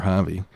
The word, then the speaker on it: Javi: For those Americans out there, you spell it with a J, not with Yeah. an H. It took me a while to learn that. Yeah. He still spells it with an H, but it's fine.